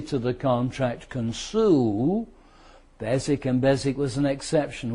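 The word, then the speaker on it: Beswick: Then the third one was that strange pronunciation where the W is silent. Basic.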